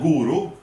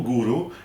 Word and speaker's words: Goro: We've got a cookie called Guru, which is spelled Goro, Guru, and I would say,